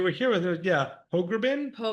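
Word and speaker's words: Pogrebin: takes two to Torah which is by Abigail Proprit. I cannot say her name correctly. She spoke here a couple years ago before you were here with her. Yeah. Hogrbin. Hogerin.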